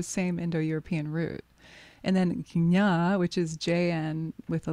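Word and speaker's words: jña: In Sanskrit, it's JN, and it's pronounced gna, gna. Some people say gna, but that's a little bit like a lazy tongue.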